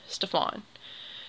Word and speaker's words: Stefan: So Stefan's name starts with an unstressed syllable and then stressed. When you have an unstressed syllable, it is kind of softer and less pronounced. And then a stressed syllable is going to be louder and more emphasized. So Stefan is unstressed, stressed, Stefan.